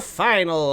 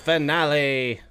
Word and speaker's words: finale: To the final of the world. It's actually pronounced finale.